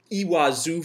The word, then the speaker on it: Iguazu: Chile and Iguazu Falls iwa Zoo Falls as they pronounce it in Argentina and we're still on